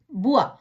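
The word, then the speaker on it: bois: இந்த உவா என்ற சத்தத்தை எப்படி உச்சரிக்கணும்னு பார்ப்போமா? பே ஓ இ எஸ், புவா, பலகை அல்லது தோப்பு, மரங்கள் நிறைந்த தோப்பு.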